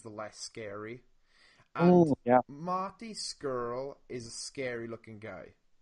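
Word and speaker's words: Scurll: I love that you pronounced that correctly the first time. Skrull.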